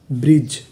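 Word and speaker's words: bridge: अब हमारा अगला कोड है डी जी ई डी जी ई को पढ़ते हैं ज यानी आपको कहीं पर डी जी ई लिखा मिले तो हमें क्या पढ़ना है ज तो मीनिंग क्या बनी? बी आर आई ब्र डी जी ई जा ब्रिज ब्रिज ब्रिज का मतलब होता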